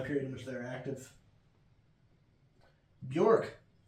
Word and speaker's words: Björk: Or Björk is, I believe, the way you pronounce it, but I hate that. And I don't feel like I should have to say people's names correctly. I feel like I should go with whatever sounds the most phonetically pleasing.